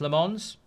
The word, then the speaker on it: Lammens: Um Le Man says his name is pronounced Lemons, which is what I do, Abraham.